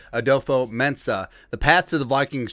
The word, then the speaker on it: Adofo-Mensah: With the Minnesota Vikings hiring new general manager Kwesi, got the pronunciation right, Adofo-Mensah, the path to the Vikings trading quarterback Kirk Cousins to the Cleveland Browns has never been clear.